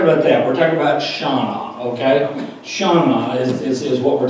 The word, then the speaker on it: Shannah: So Shannah is said like a person's name, like a girl's name, Shannah.